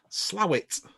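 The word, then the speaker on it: Slaithwaite: Yes, so we are now opening a second store in Slowett. It's spelt Slavefoot.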